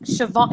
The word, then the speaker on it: Siobhan: Siobhan, it's pronounced Siobhan.